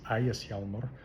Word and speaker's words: Ægishjálmur: One of the other really popular Norse tattoos is, I'll just use the modern Icelandic pronunciation of it to avoid 500 comments about the Old Norse pronunciation. It's Ægishjálmur, or the very similar